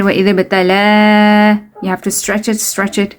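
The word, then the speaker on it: ابتلى: Okay, وَإِذِ ابْتَلَى, ba, you have to do qalqala here. وَإِذِ ابْتَلَى, you have to stretch it, إِبْرَاهِيمَ.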